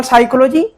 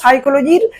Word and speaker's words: psychology: সেই তিনটি বিষয় হচ্ছে, একটি হচ্ছে মিনিং অফ এডুকেশনাল সাইকোলজি, শিক্ষা মনোবিজ্ঞানের অর্থ আমরা এখানে জানবো।